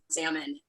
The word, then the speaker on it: salmon: I managed to find the only white guy who pronounces the L and salmon and and I and